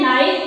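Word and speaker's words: knife: नाइफ और knowledge, परंतु उच्चारण तो हम नाइफ कर रहे हैं, नॉलेज कर रहे हैं, परंतु के वर्ड लिखा कैसे गया है? कनाइफ, कनॉलेज।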